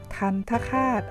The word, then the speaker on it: ทัณฑฆาต: ตาม ครู นะ คะ ทัณฑฆาต อ่าน ว่า ทัณฑฆาต เรา มา ดู ความ